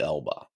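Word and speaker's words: Elbe: up near hurg on the Elba that was good German pronunciation of Elba I know right in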